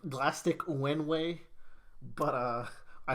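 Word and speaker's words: Glaistig: um pronunciation uh and it's supposed to be like galastic like plastic with a g yeah and then when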